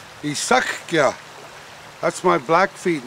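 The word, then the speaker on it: Eesukyah: Isakya.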